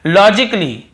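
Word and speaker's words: logically: फिजिकली ये देखिए फिजिकली तो यहां पर भी ए का उच्चारण नहीं हो रहा है। और देखिए लॉजिकली लॉजिकली यहां पर भी ए को हम नहीं पढ़ रहे हैं।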